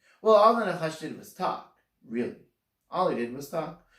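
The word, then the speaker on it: נחש: is also pronounced differently, nachash. If you can hear the difference, nachash is the emphasis is on the second syllable, and nachash, the emphasis is on the first syllable, spelled exactly the same way in Hebrew.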